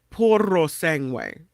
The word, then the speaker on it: Puro Sangue: Oh, you have to roll the R. Sorry. Puro Sangue.